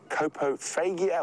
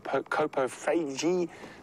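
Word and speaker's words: coprophagia: david debbie and maya kopo fagia or copo feige um is or coprofeiji depending on your pronunciation is the correct term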